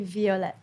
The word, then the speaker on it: Violette: It is, but because the way it's written in French. So it's basically, it's supposed to be violet.